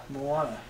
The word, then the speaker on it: Moana: it's how you pronounce it, and I can't pronounce it. It's Moana. Moana.